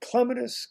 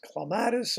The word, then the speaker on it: clematis: Pronounce it Clematis, Clematis, or any way you'd like. Get the syllables in the right order and fire away.